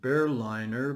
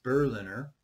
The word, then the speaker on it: Berliner: paper by bernhardt berliner for some reason i kept calling him bear liner but i think obviously the correct pronunciation his name is berliner um and the paper